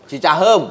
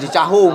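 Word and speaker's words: Cicaheum: Gua udah sempet merayu dia untuk di Cicahu gitu ya, Cicahem, bukan Cicahum. Oh, kan EUM, saya bacanya UM-nya dong.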